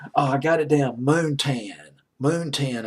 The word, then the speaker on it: Moontan: Moontan, I believe is how you pronounce it.